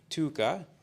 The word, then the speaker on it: Tuukka: Tuka, so Tuka Tuukka gave me a lesson on how to pronounce his name, and I'm sure I'm not doing it well. He's Finnish, so there's a long, like, Tuukka.